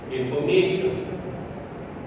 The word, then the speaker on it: information: I should say information. Yes, last third. May, ठीक है? It is information. So ये syllable जो है हमारे पास may, that is the stressed syllable there.